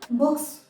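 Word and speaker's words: books: कुछ और एग्जांपल्स देखिए, बुक, के भी वॉइसलेस कॉन्सोनेंट है, तो जब हम इसके आगे एस लगाते हैं, इसका प्लूरल बनाते हैं, तो हो जाता है बुक्स। आप इसको बुक्स प्रोनाउंस करेंगे।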